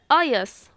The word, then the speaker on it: अयस: अब देखते हैं नेक्स्ट, अयश और अयस, ठीक है। उच्चार प्रोनाउंसिएशन में थोड़ा डिफरेंस है।